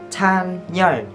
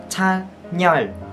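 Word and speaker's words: Chanyeol: Chan Yeol. Các bạn phải đá N lên nha, thành là Chan Yeol.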